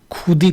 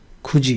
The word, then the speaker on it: 굳이: इसको कैसे पढ़ेंगे आप, खुदी पढ़ेंगे इसको। अगर बहुत लोग जो जिनको नहीं पता है खुदी या खुती, बट ये खुजी है, खुजी।